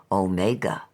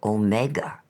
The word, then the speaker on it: omega: he suddenly asked me whether in reading the Revelation he ought to say omega as a Dactyl with the accent on the o or omega as two words if you understand me